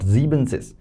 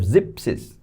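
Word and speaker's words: siebzig: Zeb not zebences. So we have zipsis half zeben is the word for or the spelling of seven but we remove en this become basically zipsies.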